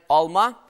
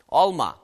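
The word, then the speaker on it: алма: Вот только если вы хотите сказать alma, в смысле яблоко, ударение должно падать на второй слог. Alma.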